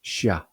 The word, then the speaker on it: siya: For he, she or it we have one form that is sia or as sibuano sometimes pronounce it shia.